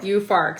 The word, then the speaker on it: Juhfark: so it's spelled like jew farc but it's pronounced you for you farc so this is i'm probably mispronouncing it some loy vandor so forgive that's that's the name of the white winery yeah and it's you farc is the type of of grape yes and